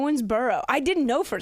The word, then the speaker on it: Owensboro: I misheard the Owensburg thing. Yeah, you're butchering it every time you add something new. What's it called? Owensboro.